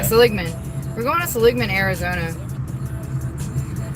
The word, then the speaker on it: Seligman: We went to Seligman. Is that how you say it? Seligman. Yeah, Seligman.